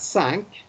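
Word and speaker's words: cinq: s-a-n-k tina yeah okay so just think of a boat that sank and then you say sank it's not easy like the english word sank okay and the next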